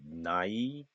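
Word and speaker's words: night: 둥지입니다 nest nest 밤 아까 gh n 중간에 나온면 발음이 안 난다 그랬죠 어 그럼 어떻게 되겠어요 나이트 나이트 밤이죠 밤 그다음에 문어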